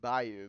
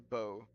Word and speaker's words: Bou: Even though I've been calling Bayou because how I literally am reading, they pronounce it just a bow.